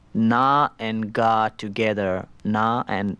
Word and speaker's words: na: Like, for right-hand drum, we have a syllable called na, which is N-A, na, like that's na. That's na.